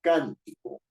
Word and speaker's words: cántico: ni está en co Yo no digo cántico ni cántico estoy diciendo cántico Y si estoy diciendo cántico la fuerza de la voz está en la anterior a la penúltima está en la antepenúltima en la antepenúltima sílaba yo digo la palabra